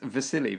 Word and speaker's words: Wassily: I think it's Vasily because in Eastern European languages a W is a V, so it's like Vasily Kandinsky.